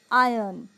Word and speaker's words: iron: are they it's iron it's not iron it's iron okay that our sound initially is silent so it's not iron